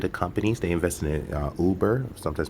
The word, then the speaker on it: Uber: They invest in Uber, sometimes pronounced Uber, and they actually invest in Turo as well.